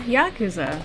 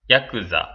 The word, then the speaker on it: Yakuza: hello starletsgalaxy here and today we are playing yakuza now i've heard some people say it was yakuza but i checked the pronunciation let's just check it again real quick yakuza yeah okay now one last thing there we